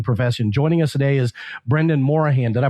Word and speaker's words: Brendan Morahan: Joining us today is Brendan Morahan. Did I pronounce that correct?